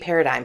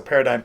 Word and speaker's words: Paradyme: So Paradyme, Paradyme. So everyone's like, that's not how it's spelled. And we're like, yeah, but Paradyme.